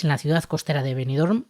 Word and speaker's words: Benidorm: la ciudad costera de benidorm ojo como he pronunciado la m de benidorm esto no se suele Escuchar mucho Silvia poeta estadounidense pasa